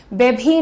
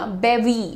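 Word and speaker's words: bevy: बेबी नहीं भी मत बोलना। बेवी बेवी दैट्स द प्रोनाउंसिएशन निदेशकों यानी डायरेक्टर्स जैसे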